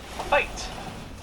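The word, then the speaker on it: wyd: mad they're both gray white rhino actually get their name from a mispronunciation the Afrikaans word fight which means why limped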